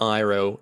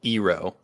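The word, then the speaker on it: Iroh: call saka soka and they call iro eero honestly i did i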